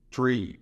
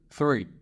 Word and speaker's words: three: Então, não é tree. O jeito certo de falar é three. É estranho, mas a língua sai da boca.